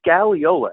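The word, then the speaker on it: scagliola: And it's a stuff called scallola. It's not marble. It's spelled S C A G L I O L A.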